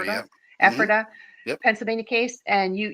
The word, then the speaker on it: Ephrata: Is Ephrata, that how you yep, pronounce Ephrata, Ephrata? yep, hmm Ephrata, yep, Pennsylvania case, and you actually have a video of it on your YouTube link that you yes, sent us.